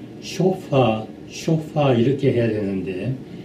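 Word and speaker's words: chauffeur: 그리고 쇼파 그 개인 운전수 개인 운전수를 쇼퍼라고 하는데 이건 액센트가 첫째 음절에 있습니다. 쇼파 이렇게 해야 되는데 이 사람들은 쇼파 하면서 아주 무슨 자기가 유식한 사람처럼 그렇게 말을 합니다.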